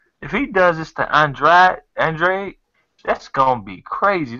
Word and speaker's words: Andrade: Andre, that's how it's pronounced.